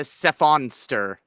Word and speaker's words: Cephonster: By the way, Jazzy, if you want to pronounce my name, it's a Cephonster. It's a combo of cephalopod and monster.